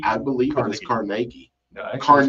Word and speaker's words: Carnegie: The Dungeness ruins are the remains of a mansion built by Thomas Carnegie, the brother and partner of steel tycoon Andrew Carnegie. Georgian revival stuff. Carnegie. I believe it was Carnegie.